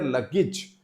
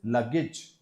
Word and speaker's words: luggage: So he's a staff member who helps guests with their luggage. Now this is luggage.